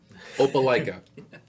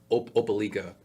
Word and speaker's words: Opelika: Opelika, which I found out very quickly. I was pronouncing that wrong. It's like I was saying Opelika. They're like, it's Opelika.